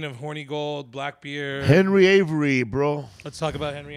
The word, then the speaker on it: Avery: Because right here in this book, it's spelled with an E. Right. Every. Like every. Every. Yeah. And then and my book is pronounced Avery, like Avery. Right. With an A.